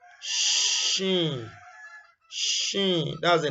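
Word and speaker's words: شين: The closest English equivalent in pronunciation is what? Shine, polish. You get the sh, and this is sh. Description. This is pronounced from center of the tongue, touches the palate, similar to the English word sheet.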